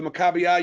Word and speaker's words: Maccabiah: saying there at them Maccabi ax is how you say I'm a caballo Maccabi Games or the it was it was actually gave themselves called the Maccabiah you're saying it right okay and if everyone